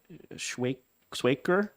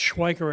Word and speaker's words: Schweiker: Schwaker, you're going to have to help me, from Concord. That's Schweiker. It's Germanic. It's like Schweiz and other German names. You pronounce the second letter instead of the first.